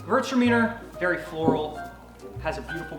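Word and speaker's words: Gewürztraminer: now the next one hertz demeanor yes that's actually how you say it converts your meaning it looks weird i don't know why it's spelled that way it's german so virts demeanor very floral has a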